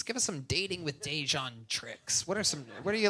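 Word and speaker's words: Dejuain: "It's Dejon, bitch. It's Dejon. Spell it. D-E-J-U-A-I-N. Get off my."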